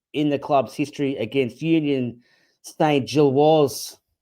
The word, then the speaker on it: Union Saint-Gilloise: Uh we're here to unpack the biggest Champions League victory in the club's history against Union St. Jill. Craig, I think that's the uh the official pronunciation.